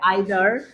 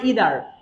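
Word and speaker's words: either: অর তাহলে এখানে দেখো আইদার বা এটাকে অনেকে উচ্চারণ করে ইদার ইদার আইদার দুইটাই সঠিক ইদার অর অথবা কি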